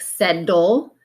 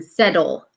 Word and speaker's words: settle: say it more like settle, because the T and the D are those voiced and voiceless partners. And so you might hear as someone's reading settle, okay, but it's really settle, so we spell it with T's.